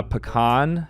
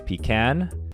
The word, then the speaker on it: pecan: that he says both uh pecan if I'm feeling fancy otherwise P can I refuse to Analyze